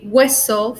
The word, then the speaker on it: hueso: So we say hueso, for example, here, yellow, that means eyes, and we just don't pronounce it.